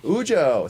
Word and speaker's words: Ujo: Did I pronounce Ujo. Ujo.